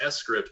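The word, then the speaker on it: scrypt: s grip like it's it's supposed to be pronounced s script but scripts is so much easier it rolls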